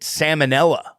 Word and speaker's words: salmonella: like Zion vanilla salmonella I say it like fit like the fish salmonella salmon Ella oh you put the L in it like salmon salmonella yeah do you say